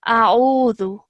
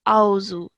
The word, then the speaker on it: أعوذ: Even from here, please make sure that, like I said, alif is a separate sound and this ayn is a separate sound. So we would pronounce this as a'udhu, okay, like that, and not auzu.